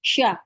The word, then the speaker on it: siya: ang bahay maganda siya Okay siya siya It's like it's like sh siya maganda siya maganda ka